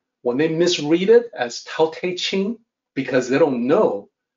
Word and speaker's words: Tao: on two things here the unasporated t is supposed to sound like d Tau is spelled with a t if you wanted to